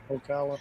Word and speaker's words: Ocala: Ocala.